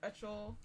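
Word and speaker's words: Uchel: I feel like we had the pronunciation right the first chapter. I don't remember this pronunciation. I think it's Ickle. Ickle. I think so.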